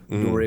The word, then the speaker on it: Dore: Do re mi fa sol la ti do. Oh yeah, I would not do that, but I would have think it. Yeah, so that's exactly how you pronounce it.